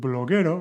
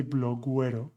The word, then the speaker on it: bloguero: So with bloguero, we do not say bloguero. This U is not pronounced.